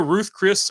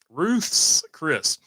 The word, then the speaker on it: Ruth's Chris: we're going to go Ruth Chris Ruth's it's Ruth's Chris I think H strategy let me hold on it's gonna drive me insane because I can't remember how to say it yeah Ruth's apostrophe s Chris Ruth's Chris I'm not gonna say